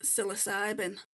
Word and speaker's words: psilocybin: Um it's pronounced psilocybin.